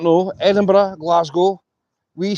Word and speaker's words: Edinburgh: For anybody who's interested, you will have the place name called Edinburgh.